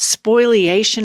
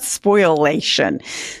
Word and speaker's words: spoliation: all of your money and you're raving about spoliation. Is that a legal term? It's not It's not spoilation. Spoilation. Okay. So he pronounces it wrong.